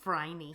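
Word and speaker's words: Phryne: Her name is Fryin. Fry rhymes with Heiny.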